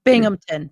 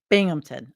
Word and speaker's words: Binghamton: gota wait and see wait I said it wrong bingamon sorry guys Jason Dr Jason Mo from Binghamton okay I'm done I may